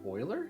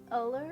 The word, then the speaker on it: Euler: Oh, pronounced Euler? Is that right? I said Euler, I'm sorry. Not the E. Euler? It's Euler? It's Euler? Oh man, I've been saying Euler as well.